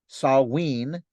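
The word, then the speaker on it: Samhain: festival observed at this time called Sam Haan pronounced saween was the biggest and most significant holiday of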